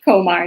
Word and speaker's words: Komar: absolutely uh in the correct pronunciation of your last name is Kar is that correct Kar yeah Kar right so Kar